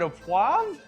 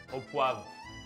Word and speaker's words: au poivre: So Martin, is it au poivre? Au poivre.